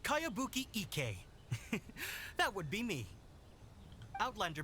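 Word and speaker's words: Kayabuki Ikkei: new one i've never heard of it by cowabunga icky your mia this is a really strange name who's this cowabunga it's pronounced kayabuki ek that would be me outlander brigade is a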